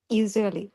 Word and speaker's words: usually: Usually. Usually না, usually. Usually. Exactly. আরেকটু সুন্দর করে আরেকটু এখানে ভাইব্রেশন সৃষ্টি হবে।